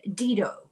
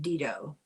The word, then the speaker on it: Dido: an evil king in Dido, about the story of Dido. Sometimes pronounced Dido, but if you're doing it in Latin, it's Dido.